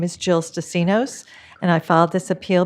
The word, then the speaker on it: Stasinos: I say Stasinos Okay. with the accent on the end because that's the Greek way of saying it. Okay. But the rest of my family says it the American way, which is Stasinos.